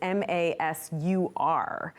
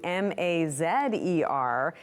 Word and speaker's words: Mazer: on his birth certificate, is Masur. But then he changes it to Mazer, sort of in this reference to mazes. So the pronunciation is the same, and he wants to